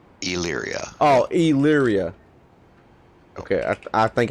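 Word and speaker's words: Elyria: i've never tried uh leary ohio okay so the e is basically not there basically leery illyria oh illyria okay i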